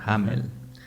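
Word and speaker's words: Hameln: en la ciudad de hamelin originalmente así se pronuncia bueno en alemán hammel este relato por su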